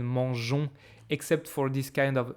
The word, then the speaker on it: mangeons: Like for example, I hope you remember that manger, you remember this story, like we put this extra E to keep the pronunciation mangeons, except for this kind of super small exceptions that are not even really exceptions.